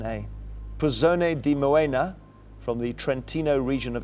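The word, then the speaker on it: Puzzone di Moena: d i then m o e n a pone D moena from the trentino region of Italy what type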